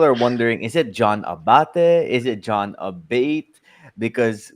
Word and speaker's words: Abate: grammatically correct um so my last name is Italian uh Abate is how you say it and if you want to say in English it's a bait it's really preference in